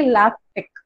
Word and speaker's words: LaTeX: So, LaTeX is base, it is actually LaTeX. Okay, you have to pronounce it like LaTeX, and it is mainly